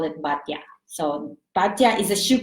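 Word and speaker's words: Baťa: I think in the Philippines we also have that, but we pronounce it as Bata. But in the Czech, that's actually originally from the Czech, which you pronounce it as Batya.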